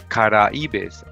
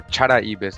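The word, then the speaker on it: Charaibes: uh in regards to the uh kara ebays or chara ebays as they're calling them here right they spell it right here with a c-h-a-r-a-i-b-e-s down in the bottom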